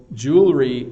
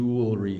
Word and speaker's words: jewelry: for a sec so jewelry in Canada we say jewelry um we don't pronounce every syllable so I go to the jewelry store Jew jewelry store we hardly even